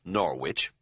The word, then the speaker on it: Norwich: notable for three things for being pronounced Norwich it used to be Norwich before it got taken over by Outsiders in the 1950s for being the town